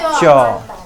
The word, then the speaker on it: च: बोलो च। तुम्हारा जीभ कहाँ सट रहा है? तालु। ऊपर वाले भाग को हम क्या बोलते हैं? तालु। तो हमारा जीभ कहाँ सटा? तालु में, इसलिए इसका उच्चारण कहाँ? तालु से।